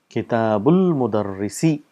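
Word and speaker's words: كتاب المدرس: And how do we say kitabul mudarrisi? This is hamzatul wasl, so we don't pronounce the sound because there's a word coming in front of it. So we say kitabul mudarrisi.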